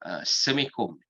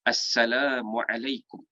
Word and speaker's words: Assalamualaikum: Ada yang bagi Assalamualaikum, Semikum, S-E-M-E-K-U-M. Ada yang lagi dahsyat tu, Samkum, ada juga Samkum pun ada. Jadi kita nak kata kalau boleh, kalau kita ni sebut pronounce tentang satu perkataan word itu dengan cara yang betul, maka sebaiknya kita sebut juga lafaz salam ni dengan lafaz yang betul. Jadi kita sebut apa? Assalamualaikum.